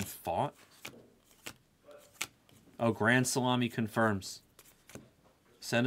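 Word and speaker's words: Pfaadt: about minty fresh fat he doesn't pronounce it fat yeah how does he pronounce it how does Brandon fat pronounce his fat name fought really no minty are you just messing with me to get me to pronounce the guy's name wrong really you swear minty that you're not just messing with me it's Brandon fought oh Grand salami confirms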